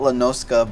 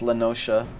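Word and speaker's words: La Noscea: I've called it Lanoska, but I guess it's Lanosha.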